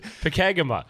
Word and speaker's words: Pokegama: butchered it. Well, how do you say Pokagama? Not even close. Pokagama.